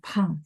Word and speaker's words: 胖: Pakai pang sih, ya. Gemuk. Gemuknya untuk manusia. Tahan. Pang. Pakai P, bacanya PH, ya. Pang.